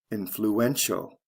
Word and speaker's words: influential: c e to t-i-a-l the syllable stress goes from the first to the third syllable influential look at the next ones they follow the same patterns residents residential first syllable to third syllable c e to t